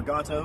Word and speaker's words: Gato: uss drum ss228 a gato class submarine or gato however you want to pronounce it uh we're gonna go